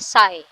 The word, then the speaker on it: psi: इस सिंबल का नाम है साई, इसको हम साई फंक्शन कहते हैं, और इसकी स्पेलिंग है PSI, ठीक है।